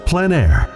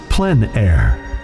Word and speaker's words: plein air: of outdoor painting called plein air the French coined the term which means open air or outdoors the French pronounced it plan air others say plein air no matter how you